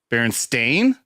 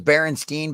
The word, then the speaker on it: Berenstain: Berenstain? AI? Berenstain. Yeah. Berenstain Bears. I always thought it was Berenstein, but I was a